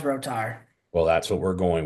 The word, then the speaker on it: Rotar: Cohen, I hear Roer a lot, but it's pronounced Rotar.